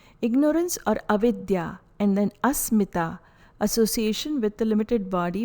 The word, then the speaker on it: asmita: be a limited being pronunciation is a letter t is a soft dental sound again the sound is a smee ta this is sutra 2.6